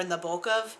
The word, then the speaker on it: Nabokov: But for example, the way you pronounce the man who wrote Lolita, it's Vladimir Nabokov. I hear all different kinds of pronunciations of this, and they just rub me